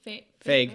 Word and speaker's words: Feig: That's Paul Feig? Yeah. Or how do you say his name? Feig.